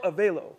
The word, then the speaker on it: Avelo: Okay, yeah, so it's like hello, Avelo, Hello, right? Avelo.